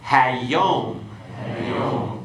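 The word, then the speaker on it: הַיּוֹם: Okay, let's go through and pronounce these and then give the translation. Okay? Hamelech, the king. Hakol, the voice. Hayom, the day.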